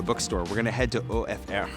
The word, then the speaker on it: OFR: But from there, because I promised you a bookstore, we're gonna head to OFR, or I call it OFR, because it's spelled that way and it's ridiculous, but I like calling it that.